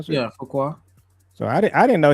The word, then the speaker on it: Fuqua: Is it Fukuqua? How you pronounce it? Yeah, Fuqua.